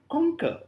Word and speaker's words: conquer: for example the word conquer we say conquer coner conquer we speak with more emphasis more Force more pressure so emphasis is on the word Kong not on C so the first syllable